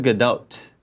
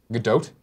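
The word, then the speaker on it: Gadot: um G gag so G do I think that's how she she pronounces GDOT GDOT yeah okay she did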